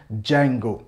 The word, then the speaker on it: Django: नाम होता है Django, जिसकी स्पेलिंग डी से स्टार्ट होती है लेकिन हम इसको प्रोनाउंस करते हैं Django।